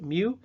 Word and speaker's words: mu: looking U that is our population mean again pronounced mu and then Big M capital M italicized is